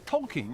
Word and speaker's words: Tolkien: Well, actually, I'm visiting Oxford because this is where Tolkien, or is it Tolkien? It's Tolkien, that's how you say it.